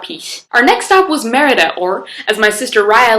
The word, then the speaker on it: Merida: and dancing about peace our next stop was Merida or as my sister Raya likes to pronounce it medida there were some really cool Roman ruins around